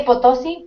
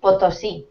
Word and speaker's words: Potosí: En vez de Potosí, Potosí. Porque fíjate dónde tiene el Potosí. acento.